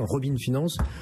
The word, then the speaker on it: Robin Finance: aujourd'hui de Robin Finance, je prononce à l'anglo-saxonne, Robin Finance.